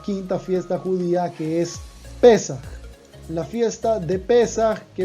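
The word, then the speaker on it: פסח: La palabra Pesaj en hebreo se traduce en español como Pascua y se escribe de la siguiente manera: Pesaj, así, Pei Samech Het, Pei Samech Het, Pesaj, ¿ok?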